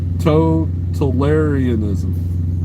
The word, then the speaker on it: totalitarianism: Emphasis on the second syllable. Totalitarianism.